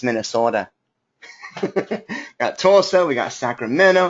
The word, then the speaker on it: Minnesota: Now, Susan, you're saying it wrong. It's not Minnesota. It's Minnesota.